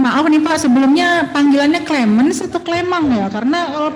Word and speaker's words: Clemens: Kalau saya lagi posting di Perancis, biasanya saya dipanggil Clemong, Bu. Tapi karena ini lagi di Indonesia, apalagi di Pekalongan, panggil Clemens saja nggak apa-apa, Bu. Oh, bukan Clement ya, Clement ya. Ini harus Clemens, Ibu. Benar tadi? Pelafalannya tadi sudah benar itu.